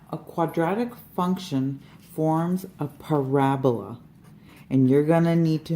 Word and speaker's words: parabola: quadratic function forms of parabola and you're gonna need to know how to say this word its parabola it looks like parabola like Ebola but we're just gonna do